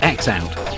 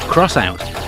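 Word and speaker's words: X-Out: Despite appearances, this game is not called X Out. It's actually pronounced Crossout, as a handy piece of speech points out during the animated intro.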